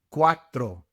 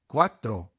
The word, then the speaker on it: cuatro: You must roll your R's for tres and cuatro.